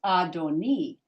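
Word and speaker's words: אֲדֹנִי: and here you've got this hi so it's pronounced adoni but if you're pronouncing when you're talking to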